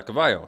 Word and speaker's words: Cavo: leader yeah yeah hero he knows how to say Cavo said yeah Cavo so okay I'm saying it right um Spanish is a